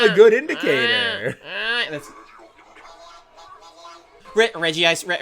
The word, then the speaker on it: Regice: That's Regi Ice. Regi Ice.